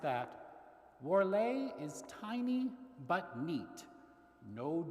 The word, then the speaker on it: Warlé: studded with tiny gold bugs and Q magazine pronounced that wlay is Tiny But neat no jumble shop this